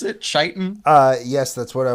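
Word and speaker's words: chitin: of course of course is that how you pronounce it chitan uh yes that's what I was taught when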